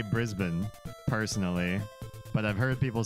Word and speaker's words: Brisbane: ours is better than yours you're right it's Brisbane New Zealand accent pronounces Ben like Benjamin oh the name Ben